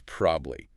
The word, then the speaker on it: probably: Then there's probably. This is a classic case of syllable shortening, cutting the middle vowel out of probably entirely, reducing it from 3 syllables to 2.